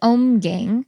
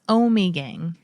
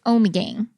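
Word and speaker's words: Ommegang: We say Omgang. Now, I think it's Omegang. Barbara. She's going to kill me. Barb, please don't kill us. It's Omegang.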